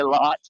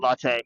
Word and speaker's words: Lotte: I've been saying lot, so it's latte. There it is. Okay, this week we explore the massive. So honestly, I say lot in English because that's what it looks like, and it's not an English word.